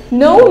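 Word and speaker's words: know: up معناها يكبر ينمو، no letter k هنا silent مش بيتنطق، no معناها يعرف، on the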